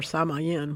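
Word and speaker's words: Samhain: which is Welsh or Samayen which is how I think it's pronounced that is another one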